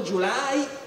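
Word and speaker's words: Gyulai: generale è un ungherese si chiama july o meglio julyo il modo in cui lo pronunciare gli italiani l'ungherese non pretenderete che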